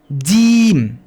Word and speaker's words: ج: দাতটাকে চেপে ধরে একটু ছেড়ে আমরা প্র্যাকটিস করব জিম জিম জিম জিম একটু দেখুন জাস্ট একটু ছোট্ট